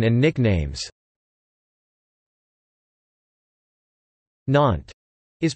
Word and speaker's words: Nantes: Nantes is pronounced NT and the city's inhabitants are known as Nantes NT.